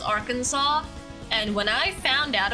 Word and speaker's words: Arkansas: Arkansas is spelled like Arkansas but it's not pronounced our cancers it's pronounced Arkansas and when I found out about that for